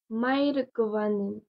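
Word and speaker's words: Mae govannen: Cela va se dire du coup Maïr Govanen. Ça sonne un peu russe, mais c'est joli quand même. Maïr Govanen.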